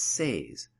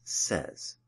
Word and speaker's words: says: mispronounced the word as says-- when the correct pronunciation is says note here that we are using the letter Z to represent the voiced S sound s is unvoiced and